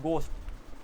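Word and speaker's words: ghost: इसे बोलते हो घोस्ट घोस्ट ठीक है ना जब घोस्ट बोलते हो तो यहां पर घोस्ट में एच आ रहा है एच साइलेंट है क्योंकि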